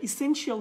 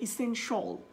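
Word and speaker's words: essential: সো এটা ইসেনশিয়াল হবে না, এটা হবে ইসেনশল।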